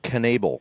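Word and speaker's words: Knaebel: knable k-n-a-e-b-e-l you're welcome well it's goofy because uh not goofy the way they spell it um or pronounce it but yeah enable you'd think right yeah that's what you'd think but now the knables had other things in mind and they're obligated to you know have their own pronunciation that's okay they're entitled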